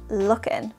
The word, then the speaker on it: looking: stop first of all notice the pronunciation hot looking looking we are not pronouncing the final g or G sound in looking looking how we pronounce it is looking looking and this would be true in most if not all casual conversations we wouldn't really pronounce